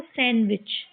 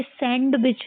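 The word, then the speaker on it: sandwich: डी को silent करके इसको सैंडविच। ये सही कैसे पढ़ते हैं इसको? सैंडविच। ये सैंडविच नहीं होता है।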